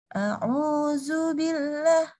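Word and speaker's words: أعوذ بالله: z jadi kayak gini kita nggak keluar lidahnya di dalam nih ini gini nih gigi bedanya mentok di dalam Gimana ya cara contoh ini ya jadi pokoknya gigi nah dia bukannya lidahnya di sini keluar tetapi dia di dalam Jadinya enggak enggak jadi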